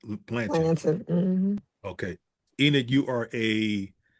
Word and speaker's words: Blanton: Blanton, yeah. Is that how you pronounce Blanton? Blanton, Okay.